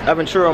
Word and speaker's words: Aventura: ventura and what is it how do you pronounce it aventura yes aventura mall uh we've been here how long we've